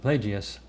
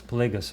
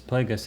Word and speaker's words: Plagueis: about the last book darth plagueis i actually mispronounced darth plagueis darth i was saying it darth plagias but it starts plagueis plagueis and uh some of the people who watched